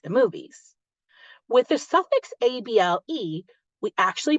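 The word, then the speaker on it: -able: With the suffix able, we actually pronounce it able, with that sneaky schwa popping out.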